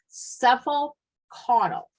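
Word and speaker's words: cephalocaudal: NCLEX likes this kind of term is called cephal cuddle and what that means as head to toe and I'm going to spell it for you are you writing down C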